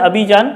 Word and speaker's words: Abidjan: और उसकी जो कैपिटल है, ये राजधानी है अबीजान, ठीक है, ये कैपिटल है उसकी, राजधानी है अबीजान, ABIDJAN, साइलेंट रहता है, ठीक है, अबीजान।